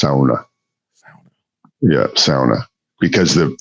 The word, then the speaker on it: sauna: It's pronounced sauna. Sa. Yeah. Sa because the the fins they pronounce their vowels like a and u or au. So sauna. But yeah if Americanized pronunciation of it is sauna.